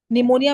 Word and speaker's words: निमोनिया: पी क्या है निमोनिया निमोनिया में पी साइलेंट है नवी का राइट यस